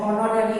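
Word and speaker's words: honorary: इसके कुछ एक्सेप्शन में भी कुछ वर्ड्स आ सकते हैं, जैसे ऑनरेरी है, वहाँ H है तो ऑनरेरी HONARARY में H का प्रोनाउंसिएशन होता है।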